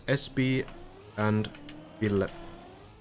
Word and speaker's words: SBVille: It's SB and Ville. So SB Ville. But you can say whatever. A lot of people call it SBville, that's fine. Whatever's comfortable. SB stands for Speedball.